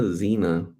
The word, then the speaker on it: Xena: loves yes listen to Xena she knows what's up there used to be a show called Zine I used to watch it was spelled with the X though x e and a it was Xena Princess